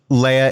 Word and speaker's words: Leia: Leia is pronounced like the Star Wars character because their mom is iconic.